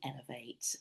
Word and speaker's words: Ellev8: So the books were always going to be elevate and it's spelled EL V and then a number eight. So L as in feminine woman in French.